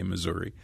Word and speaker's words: Missouri: mcal answer the question how do you pronounce the name of the state and she said I pronounce it both ways she didn't skip a beat you know so I've noticed that politicians white politicians will sometimes say Missouri sometimes say Missour but